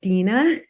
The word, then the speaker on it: Dina: So my first name is pronounced Dina.